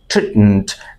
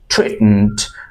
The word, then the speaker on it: treatment: Treatment. আমার সাথে এই অংশটুকু ঠিক মতো বলুন। Teacher, treatment। এবং শেষের যে উচ্চারণটুকু MENT, এটুকু উচ্চারণটা খুব শর্টলি বলতে হবে।